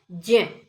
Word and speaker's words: ज्ञ: ये अक्षय नहीं है, ये गलत उच्चारण है। हम इसका सही उच्चारण करेंगे क्ष। त हलंत जमा र त्रे, ज हलंत जमा ये, इसको भी हम ग बोलते हैं, जबकि इसका सही उच्चारण है ज्ञ, ज्ञानी, ज्ञान।